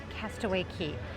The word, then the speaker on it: Castaway Cay: Yes, it is spelled Castaway K C A Y, but it is pronounced Castaway Key.